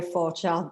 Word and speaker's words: Forgeard: that i butcher so i will let her pronounce that for you as well so yes my name is for child but is fine uh okay yeah i